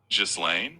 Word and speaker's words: Ghislaine: So, first off, the common pronunciation of her name is Ghislaine, which sounds kind of like Guylaine. It's a bit like the French pronunciation, so the G is soft.